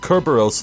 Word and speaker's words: Cerberus: Lobster boy, cue ball geezer, head case brat, Cerberus monk. Oh, shame on me. Okay, wait, why is she calling him that? He has one head. Anyway, it's pronounced Kerberos, thank you very much.